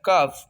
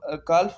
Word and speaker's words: calf: CALF, काफ, काफ mean बिछड़ा। CALF, काफ, काल्फ होता है बट द एक्चुअल pronunciation of this word is काफ।